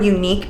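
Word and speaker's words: Eunique: These are from Unique Beauty. Unique is spelled E-U-N-I-Q-U-E.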